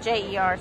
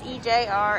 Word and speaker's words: EJR: crusties so that was it's ejr isn't it i said it wrong first time i said j er ejr exotics check them out